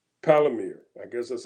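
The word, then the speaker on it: Palantir: is Peter teal he has a company called palir I guess that's how you pronounce it p a l a n t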